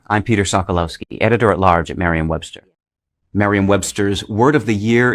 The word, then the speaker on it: Merriam-Webster: Okay, Brother, sa atong nakita, Klaro kay Reb nga ang proper nga pronunciation is Merriam-Webster Dictionary. o nakita nato ang uban Mirayam.